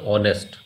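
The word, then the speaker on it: honest: आगे जो वर्ड है, हालांकि स्टार्ट एच से होता है लेकिन आवाज़ जो है वो उसमें एच साइलेंट है, आवाज़ आती है ऑनेस्ट, ओ की आवाज़ आ रही है, तो इसलिए एन लगेगा।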